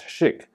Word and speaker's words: ChiQ: stands for intelligence and it's pronounced as chic as in the world